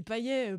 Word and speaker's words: Payet: Mathieu Payet, ouais. Payet, donc, bah écoutez. Le T se prononce, bah écoutez.